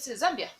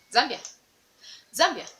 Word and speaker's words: Zambia: don't say zombie i don't drag them beer zambia zambia zambia zambia zambia zambia zambia zambia zambia zambia